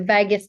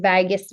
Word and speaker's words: vagus: So the vagus nerve or the vagal response, not vagus as in Las Vegas. It's vagus, the vagus nerve.